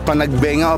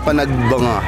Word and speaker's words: Panagbenga: Ano po ba ang tamang pagbigkas? Panagbenga o panagbanga? Panagbanga. Pero kung babasahin mo yung spelling niya, panagbenga. Pero panagbanga dapat dali. Panagbanga.